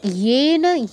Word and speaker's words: যেন: তারপর ইয়েন, ইয়েন স্মধাবতী, ইয়ে যেন যেন কিন্তু বলবেন না, ইয়েন ইয়েন স্মধাবতী।